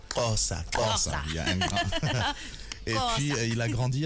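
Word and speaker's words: Xhosa: How do you say Nkosa? Kosa.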